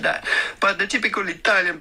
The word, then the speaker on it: Italia: Italia. No, no one says Italia, it's Italia, Italia. Yes, it's stressed, but that's too much. Like literally, no one speaks like that in Italy.